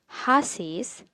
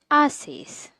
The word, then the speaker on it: haces: starting with H, and H needs to be silent. So, the pronunciation will change for this. You won't read it as haces, but will read it as haces.